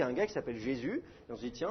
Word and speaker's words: Jésus: ça il faudrait prononcer yesous mais évidemment la prononciation française ça devient J et le U il est prononcé U et pas ou donc ça fait Jésus et puis d'ailleurs on